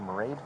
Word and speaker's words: Mairead: She said Marade, like parade.